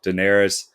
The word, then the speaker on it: Daenerys: how do you say her name diet uh daenerys yeah daenerys the queen of dragons amelia clark plays her